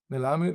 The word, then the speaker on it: Melamed: Melamed.